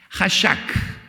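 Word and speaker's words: חשק: La palabra hebrea aquí es hashak. Es una j que se escribe generalmente ch, pero es j. Hashak.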